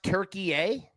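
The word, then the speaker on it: Türkiye: Uh it's pronounced turkey a.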